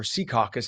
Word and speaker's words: Secaucus: 7:05 over the weekend, Secaucus police, or Secaucus as they pronounce it in the local vernacular, say over 100 reckless drivers decided to take over the intersection of Secaucus Road and County Avenue.